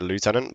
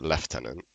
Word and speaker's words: lieutenant: Lieutenant or left tenant. It's like I I don't know. It's like how would you how would you pronounce it lieutenant? I don't know. I probably pronounce it lieutenant, but I know I know people that pronounce it left tenant, but I don't know.